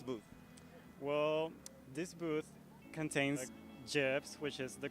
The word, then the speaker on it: GIF: me about this booth well this booth contains gyps which is the correct way of pronouncing it not gifts and it has all the gifs from the